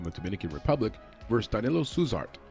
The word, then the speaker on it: Suzart: At 265 pounds, we've got Waldo Cortes-Acosta from the Dominican Republic versus Danilo Suzart. I think they pronounce it like Suzarte, almost like with a T-E at the end.